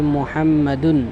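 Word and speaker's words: مُحَمَّدٌ: মুহাম্মদ, উচ্চারণ হবে মুহাম্মাদুন, মুহাম্মাদুন তানবিন সহকারে।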